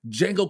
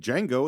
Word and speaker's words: Django: And he says, he does, and says, the D is silent.